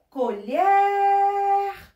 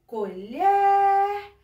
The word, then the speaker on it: colher: Por exemplo, colher. Veja só, tia Érica demorou mais um pouquinho no lher. Então, colher. Quando tia Érica chamou, foi a última sílaba que tia Érica demorou mais. Ou seja, falou com mais força, mais intensidade. Isso quer dizer que esta sílaba aqui é a sílaba tônica da palavra. Outro exemplo.